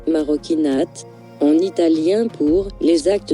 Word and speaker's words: Marocchinate: maroinate marokinate maroinate marokinate prononcé marokinate en italien pour les actes des Marocains est